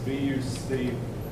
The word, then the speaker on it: Bucephalus: The C is pronounced like an S. Bucephalus. Bucephalus.